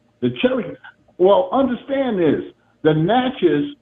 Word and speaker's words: Natchez: Naches, which is a different side. They call the Nachis. That's how you really pronounce it.